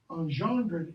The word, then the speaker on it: engendred: variation, of which virtue engendred, the G there becomes J, engendred is the fluor, one